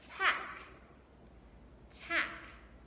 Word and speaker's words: tack: Tack, tack. Hear the short A, apple, So we have our short A because there's one vowel. So we use a C, K after it.